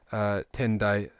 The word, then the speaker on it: Tendai: or tientai maybe and the japanese pronunciation of those two characters is ten dai and he's the founder